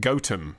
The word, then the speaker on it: Gotham: However, he says, I soon found out that it is pronounced Gotham by the locals, and I got disapproving looks when pronouncing it a la Bruce Wayne.